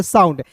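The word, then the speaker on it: sound: सुंड इसे नहीं पढ़ेंगे। इसे पढ़ेंगे साउंड। एस का हो जाएगा स और याद रखिए किसी भी वर्ड्स के अंतिम में ओ यू एन डी आता है तो उसका उच्चारण आउंड के रूप में करेंगे तो हो जाएगा साउंड।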